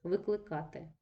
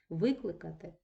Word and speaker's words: викликати: які різні форми дієслова ось викликати наголос падає на передостанній склад і це дієслово недоконаного виду викликати наголос змінився у нас на перший склад перейшов і утворився дієслово доконаного виду і вкрай рідко ми